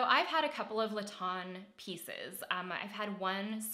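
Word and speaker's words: Lestien: pair of my favorite Laton sweats um it's Laton l-e-s-t-i-e-n Laton is spelled the French way I just thought about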